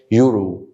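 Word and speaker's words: euro: بص الكلمه دي بتنطق ايه؟ يورو، اللي هو اليورو زي الدولار وكده. يورو يورو يورو. فالاول صوت سمعته هنا صوت اليو، واتنطقت يو ما اتنطقتش فهتبقى ان يورو.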